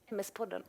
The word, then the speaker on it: MS-podden: How do you pronounce that? MS-podden.